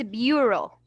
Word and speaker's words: bureau: It's bureau. Bureau. You will say, but miss, Bureau. there's no O right here. Why I say here O, bureau? Because it's unusual spelling.